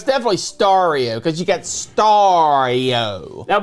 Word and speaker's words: Stario: is it is stario Christmas how do you pronounce that is it stereo star no it's definitely stario cuz you got stario now before we get